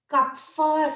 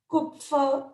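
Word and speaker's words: Kupffer: cells and they are called as cup fur cells or they can be pronounced as cook fur cells they are the largest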